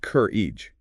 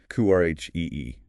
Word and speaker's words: courage: Stress on the first syllable sounds like courage, not cur e. Courage.